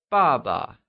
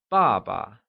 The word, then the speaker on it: 爸爸: Father translates as 爸爸, and is pronounced using the falling tone. Can you try and say 爸爸?